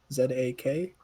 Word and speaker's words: Zakaria: help you zacarth zakaria z-a-k-a-r-i-a zechariah intentionally pronounced zakaria but yes he's a